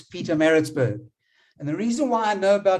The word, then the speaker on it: Pietermaritzburg: And Sashin, you spoke about Pietermaritzburg last week, and you battled to pronounce it. Well, I'm now correcting you and saying it's Pietermaritzburg.